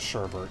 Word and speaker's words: sherbet: In fact, I thought the name of the dessert was sherbet. It's not, it's sherbet. Everyone I know pronounces it sherbet. There's no second R!